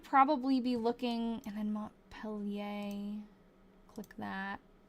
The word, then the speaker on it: Montpelier: Okay, I got told it was It's Mont Peelier. Okay, someone told me something else. I'm trying to learn. Royy's sister Sherry. Royy's sister Sherry is how you pronounce it. What? You live here. Okay. It's Montpelier.